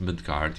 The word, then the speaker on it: Midgardr: The game name is just pronounced Midgardr. You don't pronounce the R.